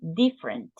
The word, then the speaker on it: different: Different. Different. It's like you omit this, the second E, different.